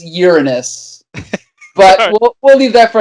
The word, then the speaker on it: Uranus: Just the correct pronunciation is Uranus.